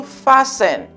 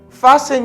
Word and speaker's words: fasten: to fasten to fasten you see the t is silent to fasten fasten your seat belt fasten